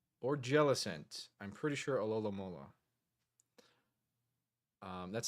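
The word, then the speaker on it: Alomomola: Alolola. Um, that's how you pronounce that. It's alamola.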